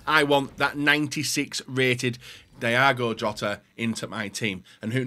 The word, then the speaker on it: Diogo Jota: He said Diogo Jota. That's how you say it in Portuguese.